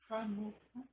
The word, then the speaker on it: Hanukkah: São 3 sílabas. Hanukkah.